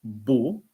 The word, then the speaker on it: beau: So the first is beau, B-E-A-U, beau, beau. It's like there was also the first name B-O, Bo. So it's a Bo, but in that case it's B-E-A-U, Bo.